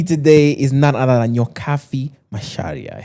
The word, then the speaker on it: Nyokabi Macharia: With me today is none other than Nyokabi Macharia. I said that correctly, right? Yes, the you did.